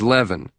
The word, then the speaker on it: Lavine: And it's leaven, right? As in heaven.